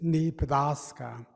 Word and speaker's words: Nebraska: water and brassica is flat and the true pronunciation is knee padaska and it's from the platte river that's south